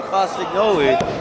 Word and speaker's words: Castagnoli: a day's work for cladio cos noi he says that's the correct way to pronounce it I even asked him himself but nobody calls him that Brian I tried right